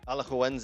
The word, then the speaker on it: Alajuelense: You go ahead and pronounce that. Alajuelense. Alajuelense.